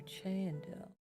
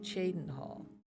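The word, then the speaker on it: Cheydinhal: So near Chandel or Chaden Hall. Always pronounced that wrong. Chaden Hall.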